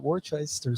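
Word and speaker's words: Worcester: did not know that Worchester sauce is pronounced worse worse I'm still trying to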